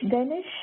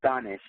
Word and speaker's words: Danish: Danish, how do you say your name? I It's Danish. It's a Persian word.